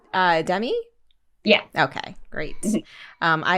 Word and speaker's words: Demi: thank you for joining me today and it's pronounced uh dummy yeah okay great um i have been butchering